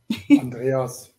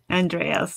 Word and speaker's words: Andreas: Andreas, is that how I pronounce your name, or did I butcher your name? Sorry about that. Andreas. Andreas, yes.